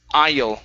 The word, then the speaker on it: aisle: And your last word is the word aisle. The S is silent.